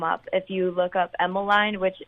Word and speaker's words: Emmaline: if you look up Emeline which it's spelled EMM a li n e does like it sounds Emeline and then shy it